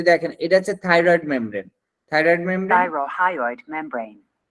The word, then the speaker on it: thyrohyoid: তাহলে এইভাবে যদি আমরা খেয়াল করি এবং প্রত্যেকটা উচ্চারণ আমরা যদি দেখেন, এটা হচ্ছে থাইরয়েড membrane, Thyrohyoid membrane. Thyrohyoid membrane. এই যে উচ্চারণগুলো এখানে দেখেন থাইরোহাইড, অর্থাৎ এখানে উচ্চারণটা কিভাবে করছে আমরা সেইভাবে উচ্চারণটা করবো।